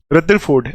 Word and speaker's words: Rutherford: है आप क्या बोलो रदरफोर्ड बोलो आर को साइलेंट कर दो ठीक है आर जो है ना ये इसको साइलेंट कर दो तो ये बाहर वाली प्रोनंसिएशन रदरफोर्ड ठीक और अगर आर